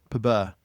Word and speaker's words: EUSPBA: But it's a 2-syllable PUBA.